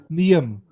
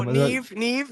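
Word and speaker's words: Niamh: Or the other one, Niam. I was like, Niam. Oh, Neve. Yeah, Neve. Yeah.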